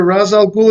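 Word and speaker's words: Ra's al Ghul: essentially I mean rather Razal Ghoul is essentially Fu Manu. I told you the name Fu Manchu, three syllables, Razal Ghoul.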